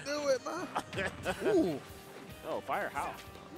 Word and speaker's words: Firehao: Is that how you pronounce yeah, that? Yeah, Firehao.